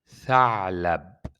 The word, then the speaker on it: ثعلب: This three, we pronounce it as a, a. We'll be talking about it, but now try as much as you can to pronounce it a. ثعلب, ثعلب.